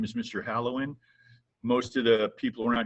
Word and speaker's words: Halewijn: call me mr h my last name is a little bit hard to pronounce it's a dutch name the uh j is actually a dutch y kind of like the spanish y so people see that